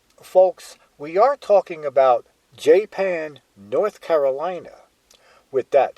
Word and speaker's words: Japan: me say that Japan unlike the country is pronounced Jan how did that name ever come about well the following is a story of not only how jpan got its name but also how it lost